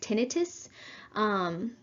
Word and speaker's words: tinnitus: Sometimes you'll hear it pronounced tinnitus.